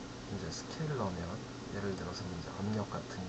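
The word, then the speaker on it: scalar: 스케일러 될 수도 있고요 제가 이걸 이제 스케일러 아고 부르는데 우리 학교 다닐 때 이제 스칼라 아고 배웠죠 스칼라 배웠는데 수학 시간에 스칼라 배웠는데 실제로 그 발음은 스케일러 혹시 이제 그 해외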